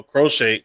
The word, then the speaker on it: Crochet: Um, like you just mentioned, uh, Crochet, that's how you pronounce his name.